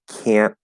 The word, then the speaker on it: can't: It can't be positive if there's a glottal stop T because the positive does not have a T, so there's no glottal stop.